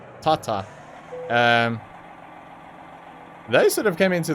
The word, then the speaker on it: Tata: Although Tata have, or Tata, or however you want to pronounce it, we pronounce it Tata.